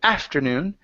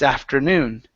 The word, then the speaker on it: afternoon: The stress is on the end of the word. Instead of afternoon, it's afternoon. Afternoon.